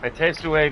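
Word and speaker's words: à tes souhaits: The H isn't pronounced.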